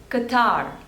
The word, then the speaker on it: Qatar: Portugal Portugal next is Qatar Qatar Qatar the stress is on the seconds label next is Romania Romania